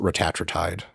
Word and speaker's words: retatrutide: So there's a bunch of them, but I pronounce it retatrutide. Right. You can also say it retatrutide if you want to say like 3 words instead of 1.